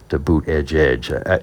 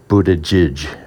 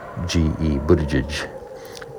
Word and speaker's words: Buttigieg: sounds to me like Buttigieg, and that the last syllable is more like Jidge, Buttigieg.